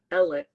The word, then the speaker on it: Alex: June double homicide of so we have Alec that's spelled Alex murdered spelled Alex but they say Alec yes he has two